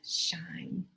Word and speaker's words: shine: I like to tell people to let your light shine, show through. All right, how did you spell it? S-H-I-N-E. Hear that long I? Got to have the E on the end to make it long.